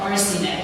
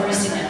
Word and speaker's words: Arsineh: Spelling and pronunciation. The irony is that he got my name right in America, Arsineh. He said Arsineh right, so.